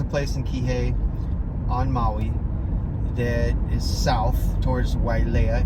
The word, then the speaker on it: Maui: You don't say Maui. Lemuria. It's not Maui. It's Maui. You gotta say Maui. Maui. Say it like that.